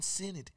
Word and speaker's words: Sinnott: I'm going to go Ben Sinnott.